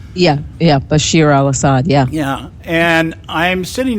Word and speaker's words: Bashar al-Assad: Bashar al-Assad. Yeah, Bashir al-Assad, yeah.